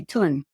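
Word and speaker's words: Thon: but they would say tun even though it's h o n to hot so like no h and the O is a u yeah some of the letters are silent so say uh the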